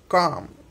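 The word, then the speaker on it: calm: देखो आफ अह आ हुआ कि नहीं हुआ, इसमें आ का उच्चारण आफ आफ, बराबर। फोक हो फोक डांस बोलते हैं ना वो वाला। काम आह का इम काम।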